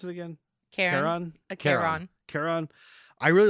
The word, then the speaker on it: Charon: I really love the effect of, how'd you pronounce it again? Charon.